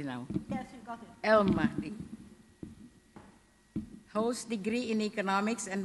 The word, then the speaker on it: El Mahdi: Do I pronounce it correctly? I hope. Yeah. Yes. Abda El Mahdi. Okay. Mrs. Mahdi, hope I do it correctly now. Yes, you got it. El Mahdi holds degree in economics and mathematical economics from